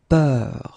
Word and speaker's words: peur: And then we will have a little bit the same, but it's a bit lighter, more open, and it's peur. Okay, previously it was bleu, so really, really deep, bleu. This one is more open and it's peur, okay, peur.